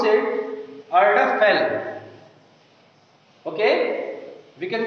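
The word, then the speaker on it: Erdapfel: We can pronounce it Erdaphel.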